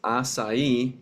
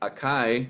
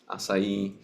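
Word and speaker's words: açaí: it's pronounced aai not Akai some people people say aai that's not the correct pronunciation they're going to look at you funny just remember it's the C is pronounced like an S asai now the next Island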